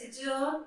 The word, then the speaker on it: adjourn: Whenever there will be D and J together, it's a thumb rule of this language that you won't pronounce D. The more examples are the word adjacent, the word adjective, adjourn. So you will try to skip D into it. D, you cannot pronounce D and J like D and J like adjective or adjacent or adjourn.